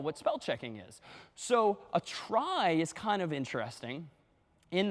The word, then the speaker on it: trie: for retrieval somehow t r i e but pronounced try and this one's kind of cool because this